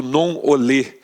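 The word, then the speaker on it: non olet: Então, esta é a questão do artigo 118, é o chamado princípio do non-olé. Se escreve princípio do non-olet.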